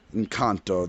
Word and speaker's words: Encanto: loved loved love i thought twice i loved encanto i'm sorry i pronounce it in kanto the way it's supposed to be pronounced um